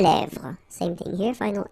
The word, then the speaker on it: lèvres: Final S not pronounced. Lèvres. Okay?